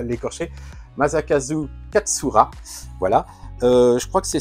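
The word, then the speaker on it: Masakazu Katsura: Wingman, c'est un manga de Maza, alors que je je prononce bien son nom parce que j'ai tendance à l'écorcher. Maakazu Katsura.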